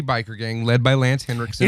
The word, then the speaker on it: Henriksen: Henriksen. Oh, he's German. I think that's German. Rick Henriksen. Henriksen. Jimi Hendriksen. There's no D, Bobby. It's in Jimi Hendrix.